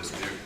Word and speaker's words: Dismuke: Hi, it's a Flemish name, so the E's not pronounced. This is Dismuke.